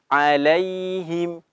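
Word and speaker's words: عليهم: Huruf ya itu memiliki sifat lin ya, lembut ya. Alai ya, alai ya, seperti itu ya. Jadi harus pelan diucapkannya ya, harus sempurna. Alaihim, alaihim. Kalau alaihim tidak sempurna huruf ya-nya.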